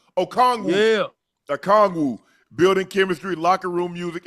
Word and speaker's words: Okongwu: Dyson Daniels, I can't even pronounce this guy's last name. Don't get him right. Don't get him wrong. Okongwu. Yeah. Okongwu.